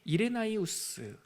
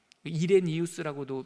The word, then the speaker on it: 이레나이우스: 두 번째 줄 보면은 이레나이우스 이레니우스라고도 미국 식으로도 발음하고요. 원래 라틴 식으로 발음하면 이레나이우스라고 하는 사람이 그의 편지에서 요한복음을 인용하면서 우리의 스승 요한이이 복음서를 기록했다라고 하는 문서가 있어요.